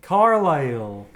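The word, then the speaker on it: Carlisle: played by Peter fanelli carile like in Cumbria and and I think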